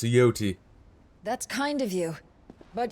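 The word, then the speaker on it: Jote: Thank you, Yote. I'm sorry. Your Grace, I shall pray for your safe Grace, return. it's pronounced Yoti.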